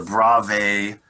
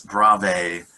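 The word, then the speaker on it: Bravais: types of lattice structures and they're called the brave lattices you can see how it's spelled down here b-r-a-v-a-i-s brave lattices and here are the 14 basic types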